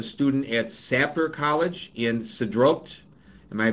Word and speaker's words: Sderot: hamas killed a student at sapler college in sidrott am i pronouncing it right this time it's pronounced zeroth um listen in addition to the rocket that